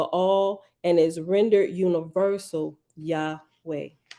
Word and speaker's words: Yahweh: touch of graminson now Yahweh is the usual pronunciation Yahweh the tetragrammatin described